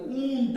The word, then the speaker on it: won't: ಕೂಡಿ ಬರ್ದಾಗ ಊಂಟ್ ಅಂತ ಉಚ್ಚಾರ ಆಗಬೇಕು.